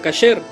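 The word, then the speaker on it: כשר: Entre los judíos sefardíes y en hebreo se pronuncia kasher.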